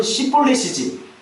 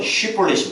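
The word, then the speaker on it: 쉽볼렛: 쉬볼렛이 시볼렛이에요. 시볼렛이 맞아요? 쉬볼렛이 맞아요. 근데 쉬볼렛은 쉽게 되는 게 아니라니까.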